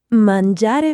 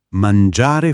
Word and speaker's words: mangiare: Mangiare fuori. Mangiare fuori. Non mangiare, ma mangiare con la aperta.